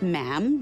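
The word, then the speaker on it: ma'am: um and after that it's just mam rhymes with jam and it's always a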